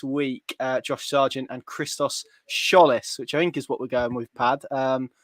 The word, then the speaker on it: Tzolis: I asked you this earlier today, and you said you sent me a link, and it was Tzolis. Basically, you dropped the T.